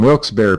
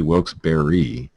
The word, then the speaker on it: Wilkes-Barre: Authorities say Jacqueline Blake confessed to officers who responded to her Wilkes-Barre home, or it's actually Wilkes-Barre, I believe, because that's the phonetic pronunciation they're showing here.